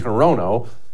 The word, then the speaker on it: Hirono: of Hawaii yeah Perino her name is Maisie harono but don't feel bad